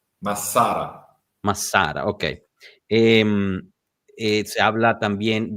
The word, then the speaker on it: Massara: Se habla de Massara justo, o Massara más bien tendría que ser pronunciado. No es Massara, son dos S. Massara.